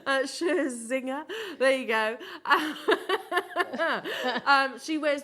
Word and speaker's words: Scherzinger: Scherzinger.